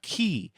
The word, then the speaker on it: chi: It looks like an X, but it's not an X. It's a chi. Um aspirated K.